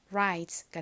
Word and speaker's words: rise: R이 리을 소리가 나고 I는 장모음으로 I 소리가 나죠. 끝에 SE는 Z 소리로 쓰여서 연결하면 rise가 됩니다.